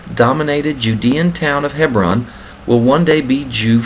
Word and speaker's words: Hebron: we will never leave hebron hevron as they pronounce it there Israeli Education Minister Gideon